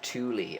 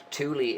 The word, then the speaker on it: Thule: So um it's the Germans pronounced it Tuli I believe.